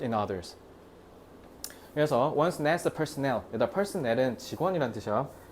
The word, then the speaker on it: personnel: 그래서 once NASA personnel, 여기다 personnel은 직원이라는 뜻이야. 개인 아니야. personnel이라고 읽어야 돼.